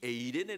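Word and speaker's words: εἰρήνη: 화평이 라고 하는 단어는 헬라 씩 신약 식으로 발음하면 a 데 내 입니다 2 에이레네 라고 하는 이 단어는 하나님의 통치가 물로 있는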